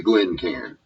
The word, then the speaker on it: Glencairn: I'm a Texas hick it's a glenar and if you not if you're not willing to pronounce it right then probably you should just say glass huh you know there